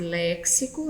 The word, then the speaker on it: léxico: trouxe texto sintaxe e léxico então já diverte-se a lembrando que esse impasse é a pronúncia correta x aqui nesse vocábulo tem som de s e não dks tá certo a 17ª